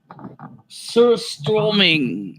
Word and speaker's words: Surströmming: I think that's how you pronounce it. Surströmming.